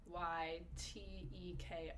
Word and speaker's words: Buteyko: Buteyko is how I pronounce it. Okay, and I've definitely told people about that. So you've done that with your patients. And just so people listeners, it's Buyteko if you want to look that breathing technique up.